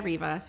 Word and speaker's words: Rivas: me your question yes my name is rivas my friends call me and my name is spelled g-r-e-c-i-a-r-i-v-a-s and my class year is 2013.